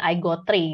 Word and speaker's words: IGT3: di mana Alchemy itu sendiri sekarang supporting iGo3 gitu. Ini kalau dibaca IGT3 itu bacanya iGo3 ya, bukan Indonesian Got Talent ya.